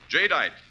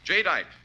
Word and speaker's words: Jadeite: Remember the name Jite. That's spelled J A D E I T E. Jite, the newest triumph of anchor hawking.